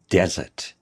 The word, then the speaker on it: desert: Pay attention to the pronunciation. The stress usually falls on this part. De desert.